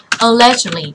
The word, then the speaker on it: allegedly: thêm đuôi ed ấy, cái từ allegedly là trạng từ mà có cái đuôi ed này mình đọc là it, đúng không?